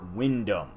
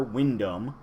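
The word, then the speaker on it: Wyndham: Herbert Edgar Windham. Okay, so I was trying to put the G from the Edgar in the Windham. Herbert Edgar Windham, a once human gentleman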